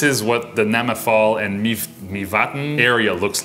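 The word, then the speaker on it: Mývatn: Mivatn. Mivatn? Mivatn. M-Y-V-A-T-N. And there's an accent on the A. Mivatn.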